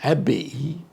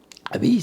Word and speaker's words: abbaye: Souvent, surtout auprès des jeunes, là, abbaye, comment ça se prononce? C'est-tu abbaye? Hein? C'est abbaye. Abbaye, ça signifie un monastère.